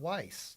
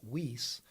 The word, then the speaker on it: Weiss: spoken in this home they dropped the second s and started pronouncing the name whis instead of weiss so the correct pronunciation american pronunciation would be weiss but we pronounce it whis and i believe it